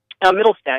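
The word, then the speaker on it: Mittelstaedt: The FruitGuys founder, Middlestedt, am I pronouncing your last name correctly? Middlestedt, yeah.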